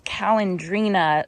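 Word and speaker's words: Calandrinia: Okay, starting over here in this garden bed, I planted the Calendrina here, and I think I pronounced it wrong yesterday. It's Calendrina spectabilis.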